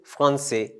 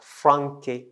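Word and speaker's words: français: called acedila okay so the cedilla gives c the sound s so without the the cedilla we pronounce it as frankie but with the cedilla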